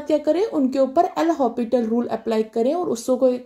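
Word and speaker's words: L'Hospital: questions करें subscribe and हॉस्पिटल rule नहीं कहना है इसमें ऐड साइलेंट रहता हॉस्पिटल रूल ओके आपने इसको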